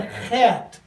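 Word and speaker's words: חית: have this in English it's called a hat it's kind of a middle throat guttural sound effect and it's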